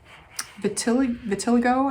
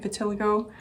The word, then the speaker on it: vitiligo: And then one of these hands I'm actually going to make a skin pattern called vitiligo, I think is how you say it, vitiligo.